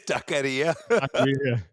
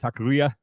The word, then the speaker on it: taqueria: It's taqueria. Wait, did you just mispronounce it?